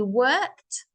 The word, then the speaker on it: worked: The E is silent. And he worked for the Khan or emperor.